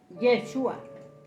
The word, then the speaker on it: Yeshua: luego nombre revelado bien en arameo el nombre se pronuncia yeshua en hebreo es yahshua correcto Ese es el